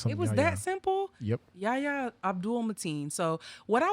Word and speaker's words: Yahya: I'm not sure how to pronounce his first name, so that's why I left it out. Yeah. Yahya. Really? Yeah, It was that simple? Yep. Yahya Abdul Mateen.